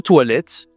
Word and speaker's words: toilette: O i en français, ça se dit wa toilette. OK ?